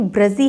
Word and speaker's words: ब्रजी: Question है कि ये श्रीम ब्रजी है या ब्रिजी है? देखिए, है तो वैसे ये ब्रजी, लेकिन आप इतना प्रोनाउंसिएशन पर मत जाइए, इतना डीप मत जाइए।